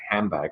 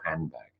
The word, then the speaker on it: handbag: says handbag it's ridiculous people say handbag or handbag the N or the M but they don't say handbag okay so that is assimilation